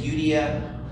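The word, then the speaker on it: Euodia: It says, I urge Euda and I urge Suntihe to be of the same mind in the Lord. We could also do the English pronunciation, Euda or Syntyche, to be of the same mind in the Lord.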